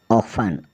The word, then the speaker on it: often: फिर है OFTEN, ऑफन, ऑफन मतलब प्रायः है।